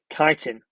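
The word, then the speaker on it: chitin: to know that it's made of kiteen chhi t n be careful how you say it kiteen um viruses we're going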